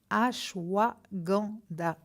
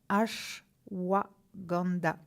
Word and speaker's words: ashwagandha: Ashwagandha. Alors, si vous voulez que je vous l'épelle, ça s'écrit L'-A-S-H-W-A-G-A-N-D-H-A. Ashwagandha.